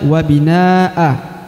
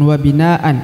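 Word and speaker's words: بناءً: bagaimana cara membacanya ya Kalau berhenti maka dibaca wabinaa bukan wabinaan ya Jadi tinggal mengikuti saja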